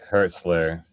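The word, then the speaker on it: Hürzeler: going to now attempt to pronounce his name uh Hler or correct me Chris Herzler. Herzler.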